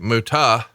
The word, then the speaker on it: Muta: And then he debuted here first as the Great Muto on March 18th, 1989. And then Jim Ross pronounced the name the Great Muta.